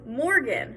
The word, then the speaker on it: Morgan: is my name is morgan i put the stress on the mor in morgan um pepsi i put